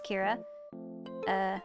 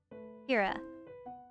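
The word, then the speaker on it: Keira: when I first made her, her name is Kira. That's K-E-I-R-A. A. There we go. I used to spell it like this, but I was like, you know what? I like the reverse. Kira.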